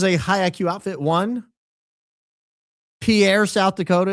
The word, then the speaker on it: Pierre: One, Pierre, South Dakota is pronounced pier like beer for a reason.